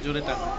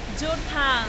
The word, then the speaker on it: জোরথাং: জোরেটাং। জোরেটাং যে বলনি তাই ভাগ্য ভালো, বলে জোরেটাং। কি নাম? জোরথাং।